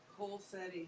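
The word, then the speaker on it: Colceri: I'm going to say his last name wrong. Tom, how do you say it again? Colsetti.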